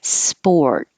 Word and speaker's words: sport: leave it there witness sport when you start spore immediately start rounding your lips to make the or sound and you don't release the t just hold it sport if it was plural